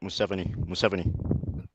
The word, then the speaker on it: Museveni: Museveni? I have no idea. The Michael Is that us? How you pronounce the name, or Yeah, that's right. Museveni.